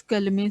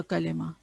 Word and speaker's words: कलिमा: अभी हमने देखा था कि any meaningful word is called a कलेमा, ठीक है। हम जो कहते हैं ना कलमा, कलमा नहीं होता, कलिमा, ठीक है। प्रोनाउंसिएशन इसकी ये कलिमा।